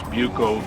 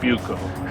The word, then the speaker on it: Buco: me and uh they're buco bags and the advertisements in the old magazines say you pronounce buko the way you would pronounce beauty so buco well i do enamel